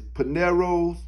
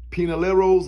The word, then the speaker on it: Pinolero's: Now the third dog we gonna look at is Pinero's. Nope, I said it wrong, hold up. Pinolero's Achilles. And I hope I said it right that time.